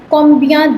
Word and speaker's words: combien: So you have an interrogatory word that's called combien de.